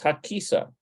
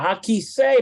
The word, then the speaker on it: הכיסא: No, it's Hakisa. Hakisa. Nope, that's not how you pronounce it. All right. I'll put it in manually. I bet you it's kisei. הכיסא פנוי. Yeah, hakisei panui.